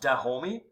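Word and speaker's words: Dahomey: several state building enterprises the kingdom of da homie so it's pronounced de homie was ruled over by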